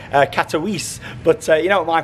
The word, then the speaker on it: Katowice: from Glasgow to catalyze now I say catalyze from watching a few videos and things for the park I think you pronounce it Katowice but you know my